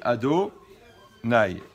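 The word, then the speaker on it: Adonai: lit donc on prononce quand on voit le nom de la chaîne ont dit ado nay d'accord il dit ça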